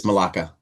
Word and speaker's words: Malaka: It's it's Malaka. Malaka. Monica but with an L.